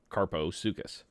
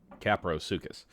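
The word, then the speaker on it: Kaprosuchus: and taming to good-looking Carposuchus. Caprosuchus. I've been saying it wrong since we started, so don't patronize me.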